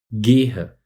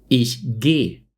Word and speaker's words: gehe: La versión correcta en la primera persona del singular es gu y por favor escríbelo así, pero cuando hablamos nos comemos muchas veces la última sílaba y decimos gay.